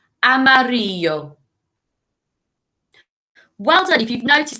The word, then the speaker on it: amarillo: the same signs english look at the word and listen as i say it amarillo well done if you've